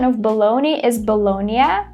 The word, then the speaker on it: bologna: pronunciation of baloney is Bologna, because it's an Italian word, and a lot of people pronounce it as baloney, which is totally fine, but not really correct.